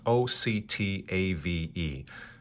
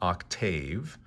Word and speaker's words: octave: That's O-C-T-A-V-E. Do me a favor. Don't overpronounce this word. It's not octave, but it's octave, just a little more gently, octave.